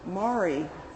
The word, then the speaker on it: Mari: Marie rhymes with Mari. Mari rhymes with sorry.